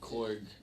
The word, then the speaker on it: Korg: But then Korg got the whole headset on. Yeah. Everything. I'm like... You didn't like Korg. Well, how you say his name? Korg or Kor? It's Korg, man.